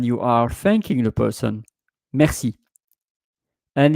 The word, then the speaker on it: merci: are thanking the person, merci. And it's not written like in English mercy, like M-E-R-C-Y. Merci in French, it is M-E-R-C-I.